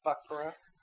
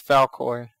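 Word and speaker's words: Falkor: The dragon's name was Fuckra. And his face looks just like it. It's the cutest thing ever. Oh, terrible. I don't think I said it right. It's Falcor. It's the...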